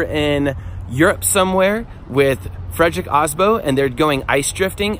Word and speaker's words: Aasbo: All right, so we are in Sweden with our good friend Frederick Aasbo, which is actually pronounced Aasbo. Guys, so we've been butchering it this whole time.